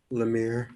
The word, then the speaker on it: Lemire: and are you christopher yes your honor all right how do you spell your life i mean how do you say your last name lemire let me know it's